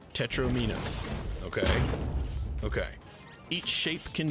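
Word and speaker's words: tetromino: Tetris has seven shapes made up of four squares called tetromeinos. Rhymes with dominoes, not tetromeinos.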